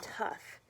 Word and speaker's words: tough: So you have, take for example, the word tough. The O-U-G-H in tough makes the uff sound like U-F-F.